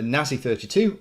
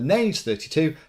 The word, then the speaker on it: Naze32: The Nazi32 or the Naze32, depending on how you want to say it.